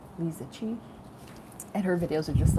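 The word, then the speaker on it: Liziqi: It's spelled L I Z I Q UI. Liziki. Leisuchi.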